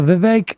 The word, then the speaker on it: Vivek: uh whoopsie or a Vivek rhymes with the cake see you up on